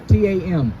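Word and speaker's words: תם: When you go into the Hebrew word perfect, it means the word says tam, T-A-M, I believe, but you pronounce it like tam, I believe, right?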